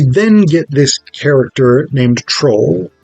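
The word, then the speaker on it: Trowle: We then get this character named Troll or Trowel or Trollane, t r o w l e. Uh I'm going to call him Troll because I think that's the most delightful pronunciation of what what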